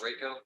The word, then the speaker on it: Rayco: All right, this is cause number CR 21-90, and it's pronounced Rayco. Is that correct? That's correct, Judge.